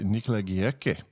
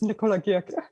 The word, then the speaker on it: Nikola Girke: I think most English speakers would say Nikola Girke, but it's German, it's Nikola Girke.